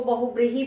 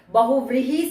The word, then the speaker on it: बहुव्रीहि: बहुव्रीहि समास है है कई बार आप बोलते हुए इसको बहुत ही बोलते हैं तो उच्चारण में शुद्धता का हमेशा ध्यान रखना चाहिए बहुव्रीहि समास जिस समस्त पद का